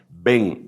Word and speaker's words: ben: decir hijos en masculino ve grande e n si se pronuncia porque ellos no tienen b grande como la nuestra ven Elohim hijos de Dios